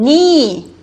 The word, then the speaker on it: knee: 또 WR 같은 건 대표적인 묵음입니다. 이거는 knee, 그죠?